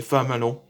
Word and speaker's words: flammalon: C'est le temple où ils gardent par les dragons insectes, les flammes, les flammalons. Comment prononcer flammalon, comme frelon.